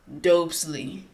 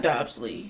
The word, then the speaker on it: Dobsley: because it's Nina Dobrev so it's dopesly Wesley dopely so it's it's it's dopely yeah not gobsley because it's Dobrev all right cool let's